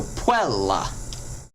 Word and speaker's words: puella: over it it doesn't not because it's a diphthong it doesn't but because it has two consonants after it so puella okay so if the